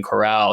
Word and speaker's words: chorale: And I just figured out it was chorale, not choral.